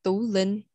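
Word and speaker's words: Tú Linh: It's pronounced Tu Linh. And that does have marks on the U for the T-U.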